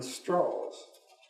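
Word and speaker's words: Strauss: as well as chairman straws he pronounced his name straws rather than straws and uh straws visited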